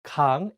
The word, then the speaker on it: 강: Please note that in this case, the iung is at the end, so the word 강 ends with an ng sound.